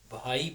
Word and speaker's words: भाई: यहाँ पे अधिक आपको बोलना है, अधिक ही बोलिए, बाई नहीं बोलना है। भाई बोलिए, भा को भा बोलिए, धा को धा बोलिए।